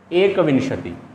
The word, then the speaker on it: एकविंशति: एकविंशति। एकविंशति क्या कहते हैं? एकविंशति। कुछ बच्चे इसको विशंति कहते हैं, इसका जो उच्चारण करते हैं वो गलत करते हैं, विशंति बोलते हैं।